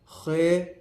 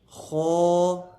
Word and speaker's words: خ: لہجے میں ادا کریں، اردو تلفظ سے پرہیز کریں، یعنی بے، تے، سے، ہے، خے، توے، زویں وغیرہ ہرگز نہ پڑھیں، بلکہ با، تا، سا، حا، خو، تو، زو پڑھیں۔ ان 29 حروف میں